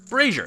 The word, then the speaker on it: brazier: Brazier. It's called a brazier. It took me a long time to figure that out, how to pronounce that as a kid, but it's called a brazier.